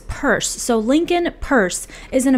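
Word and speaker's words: Peirce: more about him so apparently you pronounce his last name as purse so Lincoln purse is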